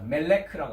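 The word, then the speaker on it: מלך: 히브리어 스트롱 번호는 4428번인데 뭐라고 발음합니까? 예, 그렇습니다. 멜레크라고 합니다.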